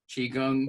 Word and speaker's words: qigong: So it's just the same as Kung, like Kung Fu, Qigong, Qigong.